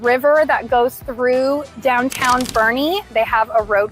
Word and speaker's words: Boerne: his stomping ground now we call it Bernie even though it's spelled like born it is Bernie it's very similar in